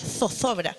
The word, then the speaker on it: zozobra: Sería con Z, pero como nosotros no pronunciamos la Z, es zozobra del ánimo.